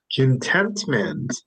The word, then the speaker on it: contentment: And the next one is contentment. Contentment. Contentment. Contentment. Yes, contentment. Contentment. So, can you recognize where is the stress? Contentment. Contentment. Yes, it's right here. It's on the next syllable, right? It's contentment. Contentment.